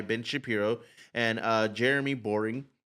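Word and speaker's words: Boreing: a guy named Jeremy Boring? That's really his name. Boring and his last name. Like that's his literal last name. It's spelled differently, but it's like it's he's pronounced boring.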